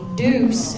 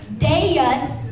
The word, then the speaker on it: Deus: the show and then had to say Deuce because everybody else was already saying it and of course when I was writing it Deus is two syllables so that's a big problem with Deuce which means like the number two already oh my God yeah